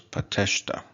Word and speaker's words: pateshta: of this word, so the stress is going to fall on the second to last, so it's Pateshta. Pateshta is a country.